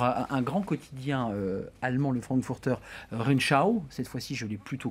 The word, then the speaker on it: Frankfurter Rundschau: sujet économique pour un grand quotidien allemand, le Frankfurter Rundschau, cette fois-ci je l'ai plutôt correctement prononcé.